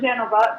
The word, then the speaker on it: Genova: We pronounce it Genova because that's the Italian pronunciation.